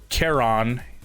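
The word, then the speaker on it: Charon: goal that is um to Kon um that's how it's pronounced it's like CH ha a r n kon's shop and then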